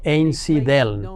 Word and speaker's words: Einsiedeln: En el año 1516, Zwinglio se convirtió en predicador en Einsiedeln, pronunciado Einsiedeln, un lugar conocido por su santuario a la Virgen María.